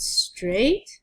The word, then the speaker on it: straight: Let's start with straight. This GH is the tricky part.